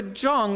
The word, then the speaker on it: Jong: So we propose to present Erica Jong as tonight's opening voice, and that is how you pronounce the name, incidentally.